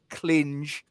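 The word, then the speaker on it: Klynge: the right back gojani clinch clinge again if you're listening in medium Wave It's clinch um not anything else and told us that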